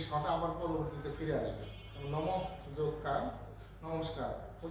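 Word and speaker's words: নমঃ: যেমন ন ম বিসর্গ, যেহেতু পেছনে বোর্ড নাই এভাবে একটু বলতেছি যে ন ম বিসর্গ উচ্চারণ করতে হবে নম, অর্থাৎ বিসর্গটাকে উচ্চারণ করতে হবে হ।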